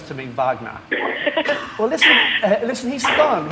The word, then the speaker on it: Wagner: right what and second I just want Lou to say Vagner instead of Wagner I know oh that's that's I always say Wagner and he always says to me Vagner well listen listen he's